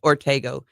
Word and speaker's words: Ortego: It's hard to remember how to pronounce Ortigo or Ortego, but it's Ortego.